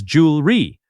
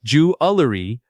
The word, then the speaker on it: jewelry: Many learners add an extra syllable here. The correct pronunciation is jewelry, not jewerie.